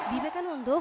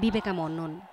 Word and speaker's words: বিবেকানন্দ: বিবেকানন্দ হয়ে যান বিবেকামন্নন, সেই ভিডিও ভাইরাল হতেই টুইটারে হাসির রোল ওঠে ট্রাম্পকে নিয়ে।